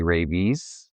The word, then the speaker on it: Rejvíz: in the world-renowned international medical rescue competition, Rallye Rejvíz.